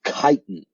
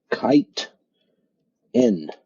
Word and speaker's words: chitin: wall is made of chitin all right so that word that we see right there at the end is chitin so it's pronounced kite in all right chitin that's